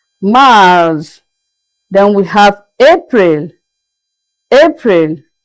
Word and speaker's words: Mars: March is pronounced as Mars, Mars.